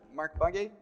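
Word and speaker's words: Markbåge: Well, Sebastian Mark Bugge, I think is how you say his last name, he introduced this idea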